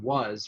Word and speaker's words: was: think about the word was where you have w-a-s but it really is pronounced more like w-u-z so i added a